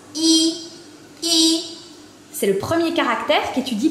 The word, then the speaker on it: 一: Il se prononce I, I.